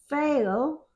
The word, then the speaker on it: fail: Fail. It's There's a change in fail. Fail to get that I sound. Fail. And it's a long a fail. It says a in the middle of it.